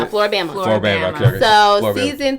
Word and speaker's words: Floribama: Floribama.